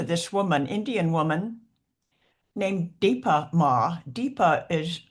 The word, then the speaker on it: Dipa Ma: And I can't tell you how often I have turned to this woman, Indian woman, named Dipa Ma. Dipa is spelled D-I-P-A, and Ma means mother, Dipa, mother.